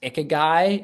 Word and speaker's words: ikigai: The first is the I think it's pronounced ikigai.